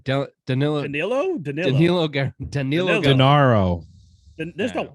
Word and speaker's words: Danilo: I don't know how to pronounce Gallinari's name. Danilo.